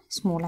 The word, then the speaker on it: small: بصوا بقى الكلمه الثانيه سم سم مول متفقين قبل كده ان الاي ال زي كلمه بول بننطقها او اوكي يبقى ادي كلمه سمول.